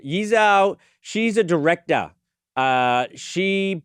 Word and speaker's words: Yi Zhou: Jeremy Rena has just fired off a cease and assist to Yezhao, I believe that's pronounced um Yizho.